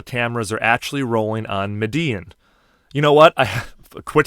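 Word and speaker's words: Medellín: I think it's Medellin. Is that correct? Yes, it's Medellin for Spanish speakers, and then for people from Colombia, it's Medellin, which is even harder from a white guy from Chicago.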